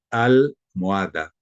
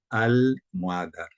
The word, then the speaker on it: almohada: pronuncia, como por ejemplo almohada, almohada, o la B, como es albahaca, albahaca. Entonces la L del artículo se pronuncia.